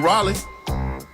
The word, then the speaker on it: Raleigh: You mean Raleigh? Raleigh. Oh, okay. Close enough. That's how you say it? How you say it again? Raleigh. You for real? Yeah. But it's spelled R-A-L-E-I-G-H. Raleigh. That's Raleigh. Close enough.